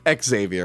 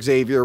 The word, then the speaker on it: Xavier: Xavier. Well, it's Xavier, but like they pronounce the X because it's Professor.